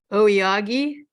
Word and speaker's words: Aoyagi: of them are here um Cassie and Kirk Yogi is that how you say your name I hope it's the right pronunciation awiyagi oyagi yeah yeah Kirk and Cassie oyagi and Daniel